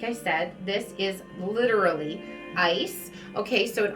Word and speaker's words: Isa: means ice okay and it's pronounced just like that isa okay and it looks